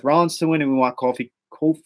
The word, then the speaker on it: Kofi: we want Seth Rollins to and we want coffee cool how do you say it Kofi Kingston coffee come on yah Mon Jamaica Mon